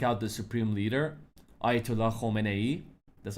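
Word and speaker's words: Khamenei: 30%, I say, once if they take out the supreme leader, Ayatollah Khomeini, that's how you pronounce it correctly.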